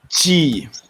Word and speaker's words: 几: Remember to pronounce 几. Sorry, 几 in like 几. Otherwise, it will become 一点. It will become 一点. Okay, so 一点, not 几点, saying it's 1 o'clock.